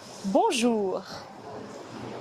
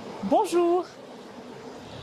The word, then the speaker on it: bonjour: Pour prononcer on, commencez par dire O, puis ajoutez le son N en l'allongeant et en le fredonnant.